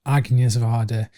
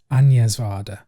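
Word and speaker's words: Agnès Varda: so now I know it's not arcing years of ardor it's onions water anyway yeah I made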